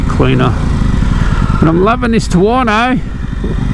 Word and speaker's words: Tuono: but i'm loving this tawano rhymes with porno look at all